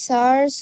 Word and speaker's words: tsar: দা সার্স হয়, আর ওটা TSAR আছে তো, টিএসএআর ওটা